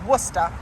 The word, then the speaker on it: Worcester: up through Worcester and yes that's how you pronounce that that's Worcester it will be cutting up through that kind